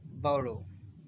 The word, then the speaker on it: burrow: मैं इसको जो है ब्रिटिश तरीके से प्रोनाउंस कर रहा था, burrow, बोरो, बोरो। देखो ये ठीक उससे मिलता जुलता है। जैसे कोई चीज़ अपन उधार लेते हैं, बोरो, कैन आई बोरो your pen please, तो उससे मिलता जुलता है बोरो। बोरो यानी ब्रिटिश वाले इसको बोरो प्रोनाउंस करेंगे, और बड़ो burrow, बोरो, बड़ो इसको ब्रिटिश अमेरिकन वाले करेंगे प्रोनाउंस।